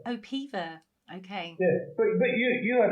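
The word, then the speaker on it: Peover: Well, in Cheshire, it's pronounced Pever. Oh, Pever.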